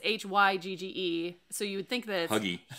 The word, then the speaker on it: hygge: doesn't read no it's h-y-g-g-e so you would think that something along but it's hygge is how you pronounce it and it's that that